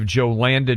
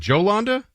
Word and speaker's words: Jolanda: According to our team, it is J-O-Landa. So Yolanda is typically a name that would be popular, but this, according to our team, is Jolanda. Okay. Maybe it's pronounced. No, Yolanda you're probably right.